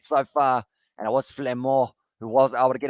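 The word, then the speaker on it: Flament: He slid over, and it's the try, and it is going to be Thibaut Flamé who was able to score it. I feel like the pronunciation was not good, but Flamand able to score it there.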